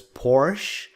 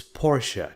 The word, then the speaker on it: Porsche: he won a Porsche GT3 this is not pronounced as Porsche no it's Porsche trust me he won a Porsche GT3 cup